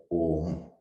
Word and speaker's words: Om: very simplest explanation right om is made out of three syllables and actually four syllables one is ah ooh and silent right so basically it's